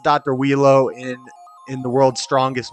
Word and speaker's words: Dr. Uiro: know it's spelled dr eurero but it's pronounced dr willow in in the world's strongest movie and all that stuff so i call him dr wheelo it's dr wheelo let me know what you